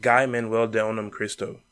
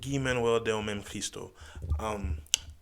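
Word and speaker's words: Guy-Manuel de Homem-Christo: Yeezus, produced in part by Travis himself and Guy Manuel de Onam Cristo. Hope I said that right. No, I still fucked it up. It's pronounced Guy Manuel de Onam Cristo.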